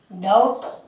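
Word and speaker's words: doubt: और टी से पहले जैसे देखो डाउट।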